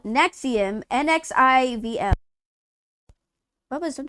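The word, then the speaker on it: NXIVM: chick from Smallville it was it called Nexus but it was spelled weird Nexium that's what it was it was called Nexium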